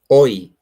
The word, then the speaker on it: hoy: Hoy is Oi. No, it's Uhhuh. Okay. No. Uh where is that? No. See when the when you start or you mention it that you say Oi.